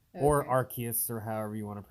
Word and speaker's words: Arceus: It's Arceus. Okay. Or Arceus, or however you want to pronounce it.